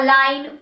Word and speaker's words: align: Examples are align, foreign, design, champagne, sign.